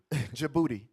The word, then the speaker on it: Djibouti: Djibouti. Oh. Hey, let's read that. The D is silent like Django.